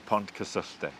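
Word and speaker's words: Pontcysyllte: the aqueduct but please help me with the pronunciation of it the P Aqueduct say that again the Pont custe Pont custe Pont is Bridge of course and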